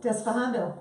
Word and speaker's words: Despejando: How would I pronounce what? Yeah, Despejando. Despejando.